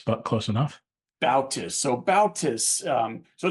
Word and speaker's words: Bautis: So, Marc, I didn't get your last name's Bautis. Am I pronouncing that correctly? It's Bautis, but close enough. Bautis.